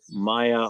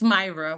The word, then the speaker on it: Myra: seat as council member Maya. Did I pronounce that right or is it a long a? It's Myra with a R.